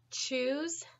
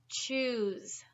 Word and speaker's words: choose: first list we have choose choose and shoes shoes okay I would like everyone to pronounce choose choose good job now say shoes shoes do you see that difference mm-hmm should choose and